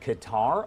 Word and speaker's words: Qatar: live look here at Qatar or Qatar depending on how you want to pronounce it here